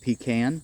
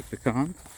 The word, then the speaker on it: pecan: But uh that is a cold hearty pean or pecan depending how you pronounce it. Over here's another cold hearty pecan kind how I grew up saying it.